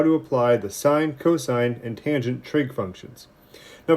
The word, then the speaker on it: cosine: refer to them so it's not sin and cost it's sine and cosine so if we were